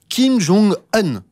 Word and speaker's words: Kim Jong-un: Je veux bien sûr parler de Kim Jong-un, ou plutôt, comme on dit en Corée du Nord, Kim Jong-un. Oui. Il faut dire comme ça, comme un gun, le revolver.